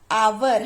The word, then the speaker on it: hour: h silent है ना। सो आवर, हम इसको पढ़ेंगे क्या?